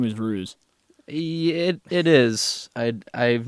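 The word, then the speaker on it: Hruz: But, you know, yes, my name is Ruse. That's H R U Z Ruse. The H is silent.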